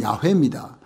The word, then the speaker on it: 야훼: 여호와라는 뜻은요, 야훼라는 원래 원어에 가까운 발음은 야훼입니다.